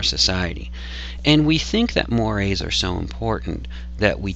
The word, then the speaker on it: mores: it on the other hand we have mores mores spelled like this but pronounced mores uh are those Norms related to um those